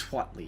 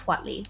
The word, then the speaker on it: Huatli: Yes, I think it's Huatli. That is at least the pronunciation that I have now heard and have established as the one that I believe. Yeah. Well, I mean, it's vaguely... It's Spanish, but it's like... It's basically Aztec.